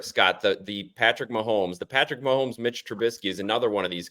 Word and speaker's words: Trubisky: Trubisky, is that how you say his name? Trubisky, Yeah.